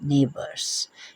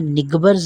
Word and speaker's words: neighbours: Fourth line, they are नेबर्स NEIGHBOURS नेबर्स। इसमें जी silent है, उसको आपने निगबर्स नहीं पढ़ना, नेबर्स। जी की आवाज़ यहाँ साइलेंट होगी। जी यहाँ मौजूद है लेकिन उसकी आवाज़ नहीं पढ़ना।